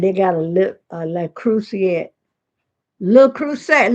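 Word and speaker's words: Le Creuset: Li Cruset. La Crus. That's how you pronounce it.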